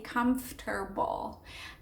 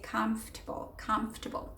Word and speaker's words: comfortable: you can just say comfortable. So it's almost like you get rid of the A in table and the O-R as well, or it just becomes a short, comfortable.